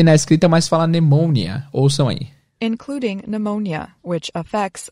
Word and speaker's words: pneumonia: grupo de palavras onde o p não é pronunciado existe na escrita mas não é pronunciado então pneumonia vai ser pneumonia pneumonia